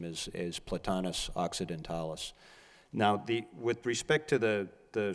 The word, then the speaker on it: occidentalis: plantings except those two, what is it called, occidentalis? Is that how you Yeah, pronounce it's Platanus occidentalis.